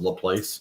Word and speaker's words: LaPlace: is the force uh LaPlace which is about the place but there's so many